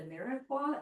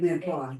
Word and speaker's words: mirepoix: At Trader Joe's, they sell I don't know how to pronounce it, the mirepoix. It's like Mirepoix, yeah.